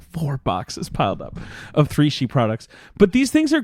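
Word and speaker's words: 3Chi: talk to you about three she that's right three chi that's that's how they spell it but it's pronounced three she it rhymes it's the industry leader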